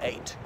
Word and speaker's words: ait: can be called an eighth so this word a just pronounce just like the number eight applies only to islands